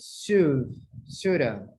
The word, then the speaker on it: should have: Shoulda. In conversation, you pronounce shoulda. Shoulda.